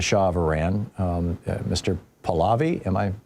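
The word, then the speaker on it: Pahlavi: Palavi. Am I pronouncing it correctly? Palvy.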